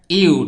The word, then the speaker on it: ewe: xar bu jigéen ok béréb bi naax la ewe donc prononciation bi ok ew, ew.